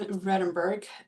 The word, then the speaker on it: Vredenburg: And today we are joined by Redenburgg. I hope I pronounced your last name correctly.